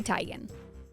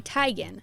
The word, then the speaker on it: Teigen: It's actually Chrissy Teigen, not Teigen, which is how her dad pronounces his own last name. Chrissy calls herself Teigen, so at least you can say you know how to say it both ways.